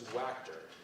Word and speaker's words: Wacker: was an actor and the way I remember his last name is because it rhymes with actor his last name was Wacker Johnny Wacker he'd been